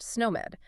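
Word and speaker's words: SNOMED: And similarly you have sn pronounced snow med that provides a standardized language for diagnosis.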